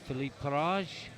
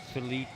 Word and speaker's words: Philip: personal best I think I said Philippe because of the way it's spelled is actually Philip yeah good choice there